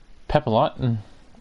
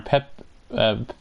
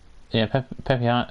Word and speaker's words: Pepiot: He'll be catching for Ryan Pepilot, or Pepiot, Pepiot, I think is how you say it, I guess.